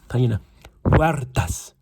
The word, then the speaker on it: Taina Huertas: Huertas. Taina, look at the tongue roll. Taina Huertas. Taina Huertas. If anybody was wondering, that's how you say it.